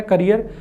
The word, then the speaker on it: career: तो ये वाला जो है स्पेलिंग CARRIER, प्रोनाउंसिएशन दोनों का सेम है, करियर।